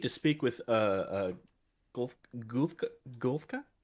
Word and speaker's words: Gumghuulka: speak with uh uh golfka not super familiar with his pronunciation oh me neither um but grum grumholka i'm never going to get that from reading it it's um gum gulca i read a lot